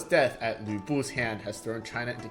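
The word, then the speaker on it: 呂布: This is Lü Bu, not Lu Bu.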